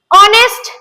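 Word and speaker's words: honest: ऑनेस्ट, यहाँ पे ऑनेस्ट word में एच से स्टार्ट हुआ है, पर यहाँ पे हम इसका प्रोनाउंसिएशन कर रहे हैं ऑनेस्ट, तो यहाँ पे एन का यूज होगा।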